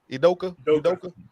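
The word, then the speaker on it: Udoka: Bean town that's how you say his name idoka he he out there doing some some he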